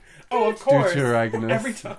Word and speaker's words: deuteragonist: it's the Deuterangonist. It's not a German word. It's not a German word. Deuteragonist. Oh, of course. Every Deuteragonist.